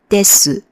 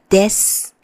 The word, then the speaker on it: です: reading the phrases that if the sentence ends with です, you don't pronounce it as です, but です. So it's almost like a very silent S in the end.